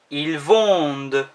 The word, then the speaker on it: vendent: When this is said, the ENT isn't pronounced, but makes the D sound more pronounced. Ils vendent.